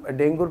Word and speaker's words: ডেঙ্গু: থেকে আমরা যেটা জানলাম ডেঙ্গুর প্রকৃত উচ্চারণ ডেঙ্গু এটা একটা ভাইরাস ঘটিত